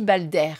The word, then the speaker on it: Balder: Alors, invoquer Balder, ça se dit Balder.